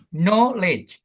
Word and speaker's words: knowledge: Jadi yang depan yang depan knowledge kan know-nya yang kencang knowledge gitu. Coba yuk.